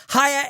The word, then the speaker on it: Haier: Hire is spelled H-A-I-E-R, and we're offering a discount on their amazing products.